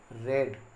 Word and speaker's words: read: So but we say it read. The spelling is same as read, R-E-A-D, read. But pronunciation is read, R-E-A-D, read.